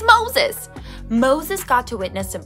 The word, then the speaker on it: Moses: It rhymes with roses, toeses. Did you guess it? It's Moses!